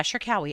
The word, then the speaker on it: Cherkaoui: Shawi, I think. Hold on. I got the pronunciation uh laid out for me and now I can't remember. Yeah, Shawi.